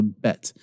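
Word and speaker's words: בּ: a bet and so the top row with a dot you pronounce as a BA and when you say BA go and pronounce but with me but your lips come together and you have this mild explosive expulsion of air but but and that's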